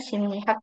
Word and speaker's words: 심리학: 자, 여기 심리학 ini bacanya simnihak ya Robin ya. Simnihak. Kenapa? Karena ada miem ketemu sama real itu akan dibaca n. Jadi simnihak.